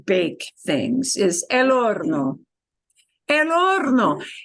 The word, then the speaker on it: horno: El horno. And la H no se pronuncia. We don't pronounce that H in the word horno.